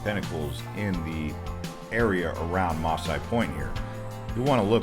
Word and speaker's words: Massai Point: here we are at maasai point some pronounce it messiah point in the chiricahua's wilderness